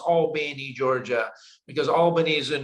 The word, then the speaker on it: Albany: procter gamble in albany georgia or as it's pronounced albany georgia because albany is in new york even